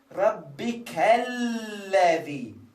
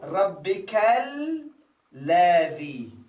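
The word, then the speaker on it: رَبِّكَ الَّذِي: So whenever we have this sign, we said we connect. We remove the alif and we connect the pre-alif with post-alif. So this will become Rabbikalladhi. Rabbikal. Remember there are 2 lam. One lam is silent, another lam as a fatha.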